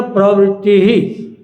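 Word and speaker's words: प्रवृत्तिः: फिर कहते हैं प्रवृत्ति, संस्कृत में लिखा प्रवृत्ति ही, तो बिंदियां हैं, प्रवृत्ति ही। थोड़ा सा हा उच्चारण करना है।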